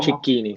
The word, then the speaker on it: Cicchini: Hoy yo cuando te iba a presentar decía, pero ¿pronuncio el apellido a lo italiano o lo pronuncio como aquí en Uruguay a lo uruguayo? ¿No? ¿Allá sos Chiquini o cómo? Cicchini, sí, sí. Chiquini, Ujú.